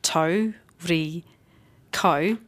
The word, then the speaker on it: Tauriko: Tau, ri, ko. We change the C to a K. And then we get that lovely Māori pronunciation, which is just beautiful.